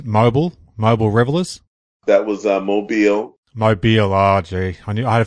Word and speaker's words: Mobile: Now, correct me if I'm wrong with the pronunciation. It's Mobile Revelers. That was Mobile. Mobile.